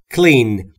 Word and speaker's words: clean: دقت داشته باشی تلفظش رو. نگفتم کلین یا کلین. بین سی و ال صدایی وجود نداره. Clean.